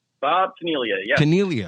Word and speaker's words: Caniglia: Caniglia, all right. G is silent.